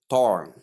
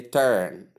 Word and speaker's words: turn: Notes most people do pronounce this word as tor. Please that pronunciation is 100% wrong. The vowel sound here is long s sound pronounced as. So for that reason you say turn and not turn.